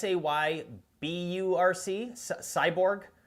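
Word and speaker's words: Sayburç: Cyborg is how they pronounce it, I believe.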